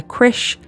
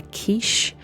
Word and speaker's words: Kiss: Now, some people pronounce his name Bela Kiss, some people pronounce his name Bela Kisch. Um I think I've just gone with Kiss throughout this one.